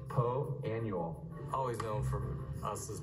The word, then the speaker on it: Poa annua: Well, the A is silent and so is the U. If you read this, wouldn't you, you'd say Poa Annua. But that would sound a bit daft, really. Poa Annua.